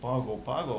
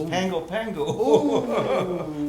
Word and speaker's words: Pago Pago: the pronunciation oh well you don't pronounce it pago pago it's pangopango i don't know if